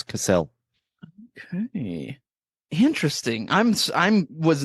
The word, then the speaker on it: Cassel: okay and it stars Kristen Stewart and Vincent Castle or casselle I'm actually not sure how you say it but I think it's casselle okay interesting I'm I'm was not expecting this